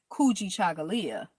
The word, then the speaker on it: Kujichagulia: the day, you say Kuji Chagalia. Kuji Chagalia is spelled Kujichagulia. Ku, Kujji, Cha, Cha, Gu, Gu, Leah, Lia, Leah, Kuji Chagalia.